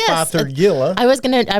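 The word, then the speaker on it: Fothergilla: heard say father Gia but it is Father Gilla so f o t h e r g i l l a and the reason that it is Father Gilla and not father Gia is because it is named after one Dr fathergill from England there we go so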